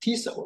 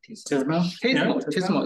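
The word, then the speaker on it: TSMO: I just learned that it's pronounced TISO, right? TISMO, sorry, TISMO.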